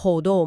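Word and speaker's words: HODL: อีก แนว ก็ คือ Holdo อ่าน ว่า Holdo มา จาก Hold on for dear life คือ ซื้อ แล้ว ถือ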